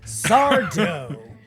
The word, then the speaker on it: Sardo: So over at the Magic Mansion, Allison is greeted by everyone's favorite homosexual small business owner, Sardo. No mister, accent on the dough.